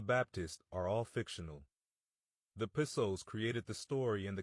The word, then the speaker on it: Piso: The New Testament, the Church, and Christianity were all the creation of the Calpurnius Piso, pronounced Piso, one family, who were Roman aristocrats.